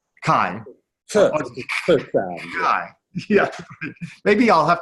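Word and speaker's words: Cai: You've developed systems on, how do you pronounce it, Louis? Kai. Kai.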